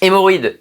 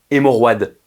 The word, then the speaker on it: hémorroïde: Et bien sûr, on met un tréma sur le I pour indiquer que la voyelle qui précède, en l'occurrence le O, se prononce séparément. On dit pas hémorroide.